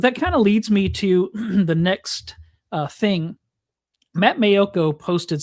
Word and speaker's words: Toth: And by the way, last week we were calling him Toth. Herb Mayoko called him Toth. And so I went to Pro Football Reference and looked up the pronunciation, and it's listed as Toth.